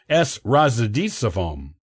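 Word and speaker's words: С Рождеством: In Russian, this is pronounced as S Razdisavom.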